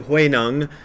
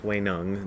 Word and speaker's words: Huineng: It's spelled Huineng, but it's pronounced Huineng. This is because of the way Chinese is transliterated into English. It has that weirdness.